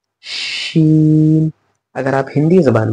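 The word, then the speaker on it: شين: तो हमने इसे पढ़ना है सीन, और इसे क्या पढ़ना है शीन।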